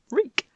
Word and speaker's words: wreak: Oh, wreak. It rhymes with leak.